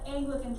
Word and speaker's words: Anglican: he formed up the anglican church you're right yourself that it does on that does look kind of like angel angel akin anglican is how most people pronounce this just make a note